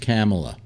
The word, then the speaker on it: Kamala: You should know it's pronounced Kamala. Yeah. Okay. Kamala. Anyway, like Pamela.